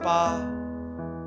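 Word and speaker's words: 八: locked in eight places number eight in chinese is pronounced ba it's considered the luckiest number because it sounds similar to the way we say good fortune so in a way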